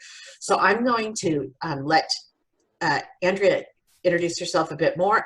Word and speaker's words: Andrea: you the name story my name is Andrea or Andrea or Andy and the reason it's those three is my fifth grade teacher said the correct French French pronunciation is Andreea so it's time then